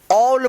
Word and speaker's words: all: तो इसका रूल है कि जब किसी वर्ड के अंत में ए के बाद डबल एल रहता है तो ए का औ उच्चारण किया जाता है। ए का औ उच्चारण होता है। जब ए के बाद डबल एल रहता है तो ए का औ उच्चारण होगा। जैसे इसको पढ़ेंगे ए डबल एल, इसको क्या पढ़ेंगे? ऑल पढ़ेंगे, ऑल।